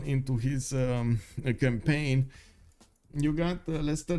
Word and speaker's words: Leicester: Wait, this is Leicester, right? This is how you pronounce this city.